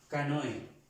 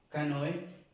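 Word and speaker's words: canoë: Esto quiere decir una canoa o un pequeño barco, se llama canoe, canoe, y vemos que se pronuncia como la E normal para nosotros, esta E en español.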